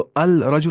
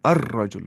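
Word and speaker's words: الرجل: होगा द मैन तो अल रजल नहीं अर रजल लाम को पढ़ा ही नहीं ग जो है वो हर्फ शमसी में से ऐसे ही दकन क्या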